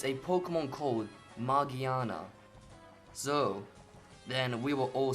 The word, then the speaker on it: Magearna: this wrong it's not margiana it's I'm pretty sure it has nothing to do with mages magic also that's what a lot of people think no it's margiana and the reason I